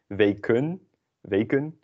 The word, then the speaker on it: weken: Weken is pronounced the same as the e in de.